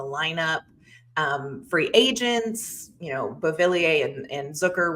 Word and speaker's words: Zucker: Free agents, Beauvillier and Zucker, rhymes with Hooker, kind of took the spot that it looked like maybe he would get back in.